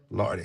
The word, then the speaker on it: Larde: Pamela Lard.